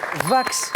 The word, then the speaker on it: wax: Je crois qu'on le prononce vax, ce tissu, pour ne pas le confondre justement avec la wax, qui est une forme de cire. Ouais. Et le tissu, c'est plutôt vax. Mais c'est bien W-A-X.